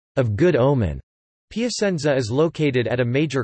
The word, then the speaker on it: Piacenza: Piacenza, Italian pronunciation, Piacenza, listen, Piacentino, Piacenza, Pi, Azs, Latin, Placentia, is